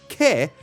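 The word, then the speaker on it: 毛: It's pronounced ke, and it also means hair, the difference being that kami is the word for head hair.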